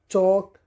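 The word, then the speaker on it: chalk: इससे पहले बताया था अगर के से पहले एल आ जाए तो एल साइलेंट होता है चौक पार्क सॉ राइस वाई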